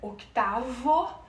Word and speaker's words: octavo: Lembrando sempre que se escreve octavo, mas a gente pronuncia octavo, porque a letra V, tem sonido de la letra B, certo? Ou seja, o V tem o som da letra B.